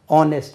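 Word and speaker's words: honest: இந்த இடத்துல பாருங்கள், H வந்திருக்கு, நம்ம ஏ போடணும். ஆனால் ஆனெஸ்ட் உச்சரிப்பு என்ன? ஆனெஸ்ட்.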